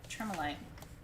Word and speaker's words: tremolite: really hard to find t-r-e-m-o-l-i-t-e it's it's spelled like it sounds tremolite from pakistan these